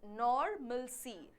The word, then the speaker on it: normalcy: We pronounce that as normalcy। आर जो है बहुत ज़्यादा स्ट्रेस नहीं करेंगे, एक हल्का सा आर हम बोलते हैं normalcy।